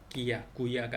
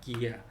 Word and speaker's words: guerra: guerra 전쟁 귀야 구야가 아니라 기야 이거는 안내.